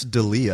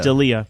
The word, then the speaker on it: D'Elia: You say Chris D'Elia. D'Elia. Yeah, I thought it was Delia.